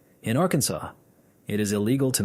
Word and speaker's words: Arkansas: They passed a resolution legally declaring that the final S in Arkansas is silent and that any other pronunciation is an innovation to be discouraged.